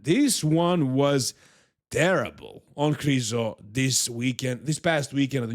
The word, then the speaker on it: Krizo: I think I'm gonna have to switch to Krizo because that's how you guys call him, even though his name is pronounced Krizo.